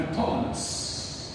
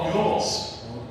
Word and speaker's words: بطولمس: لان دي من ايام البطالمه، من ايام بطولمس الثالث. نقول تاني؟ بطولمس الثالث. هتقول لي اللي هو بطليموس، مش اسمه بطليموس. بطليموس مفيش بطليموس.